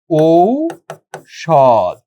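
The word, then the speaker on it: ঔষধ: যেমন আমি যদি বলি ঔষদ তাহলে এটার উচ্চারণটা হবে কিরকম? ঔষ সদ এমনিভাবে হবে। কারণ এই ঔ এর উচ্চারণটা সবসময় ও রসও ভাইঙ্গে লিখতে হবে।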